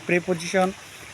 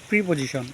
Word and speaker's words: preposition: আজকে আমরা প্রিপোজিশন ইন নিয়ে আলোচনা করব। অনেকে ভুলবশত উচ্চারণ করেন প্রিপোজিশন, কিন্তু না, সঠিক উচ্চারণটা হবে প্রিপোজিশন।